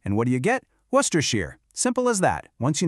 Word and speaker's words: Worcestershire: And that shire at the end of a place name, it's pronounced sheer. So you just mash them together, and what do you get? Worcestershire.